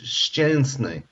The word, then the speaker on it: Szczęsny: You can't say it phonetically because it's Szczęsny. What's The SZ is a sh, the ZZ is a sh, so sh, and the E is EN, Szczęsny.